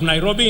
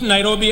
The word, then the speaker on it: Nairobi: let us recall that the city is an anglicized pronunciation of encare Nairobi which is the kimasai means which in kimasai means the river of Cool Waters for the Maasai a